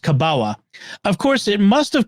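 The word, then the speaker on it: kabała: into common use in the Polish language as kabawa uh which is looks like it's an element but it's pronounced kabawa of course it must have come to common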